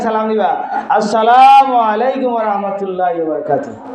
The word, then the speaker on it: আসসালামু আলাইকুম: সালাম দিছ এখন সালামের মধ্যে অনেকে সালাম আলাইকুম স্টাইল করে সালাম দে, আলিফ সারি দে সালাম আলাইকুম অর্থ হইলে তুমি মরি যাও নাউজুবিল্লাহ, বুঝলেন? সালাম আলাইকুম অর্থ সালাম দিতে হইলে আলিফ উচ্চারণ কইরা সালাম দিবা, আসসালামু আলাইকুম